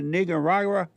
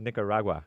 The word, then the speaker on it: Nicaragua: different count I'm like have you ever been a Niger Raga they're like what like Nicaragua am I saying it wrong slightly off in what way it's called Nicaragua what do I say